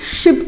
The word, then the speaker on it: sheep: तो ध्यान रखना है, यहाँ पे SHIP शिप छोटे की मात्रा, और SHEEP इसको हम लोग प्रोनाउंस करते हैं शीप।